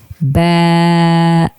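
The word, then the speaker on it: ب: The second one is I'm going to stretch the sound a little bit. Ba, ba.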